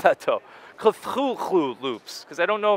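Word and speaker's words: Cthulhu: I like that though culu Loops because I don't know if you a lot of people don't say his name right they always say cthulu uh from what I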